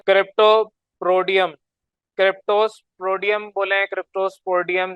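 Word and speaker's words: Cryptosporidium: क्रिप्टोस्पोडियम बोले, क्रिप्टोस्पोडियम, जो भी आप इसको बोलना चाहें। क्रिप्टो और फिर स्पोडियम, ये आपका पूरा इसकी प्रोनाउंसिएशन है। क्रिप्टो अलग बोलते हैं, मिला के ऐसे नहीं होता।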